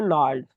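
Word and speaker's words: gnarled: यहाँ पर ये जो वर्ड है नेक्स्ट, ये वर्ड है यहाँ पर नार्ड। ये जी साइलेंट होता है तो इसको नार्ड बोल देते हैं, नार्ड, ठीक है।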